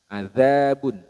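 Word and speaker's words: عذاب: sini hati-hati adzabun jadi pelafalan dari huruf dalal yang ada titiknya seperti ini adzabun huruf dalal ini makhrajnya pada bertemunya ujung lidah dengan gigi seri bagian atas Adza adzabun sedangkan Dal bertemu dengan pangkal gigi seri Le bagian atas jadi lebih naik dibanding huruf dalal dan sifatnya huruf dalal ini memiliki sifat rakhawah nafas apa suaranya mengalir sedangkan Dal suaranya tertahanabun kalau dalad beda ya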